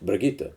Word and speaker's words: Brigitte: brigitte hill that's right brigitte we got it right the first time all right german pronunciation also i have